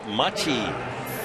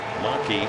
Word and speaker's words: Machi: John Machi, not Gene Maki. He has asked everyone to pronounce his name, John Machi.